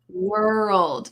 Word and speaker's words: world: World. Were old. World. Now, this is a word that we're going to talk about how you will learn to pronounce this in a little bit. World. World. There's a slight little uh between the R and the L.